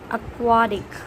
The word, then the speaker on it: aquatic: Next word is aquatic. It's a short va. Aquatic.